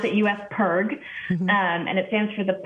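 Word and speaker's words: U.S. PIRG: it up pretty well um and it's we pronounce it u.s perg and it stands for the public interest research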